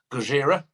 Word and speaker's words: Gojira: I won't name them yet, but we're going to France, and we're going with the massive, well, they are now, Gojira, which is Japanese for Godzilla.